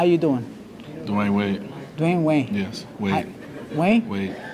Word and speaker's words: Wade: I'm here for my exclusive interview with Wayne. Dwayne Wayne, how you doing? Dwayne Wade.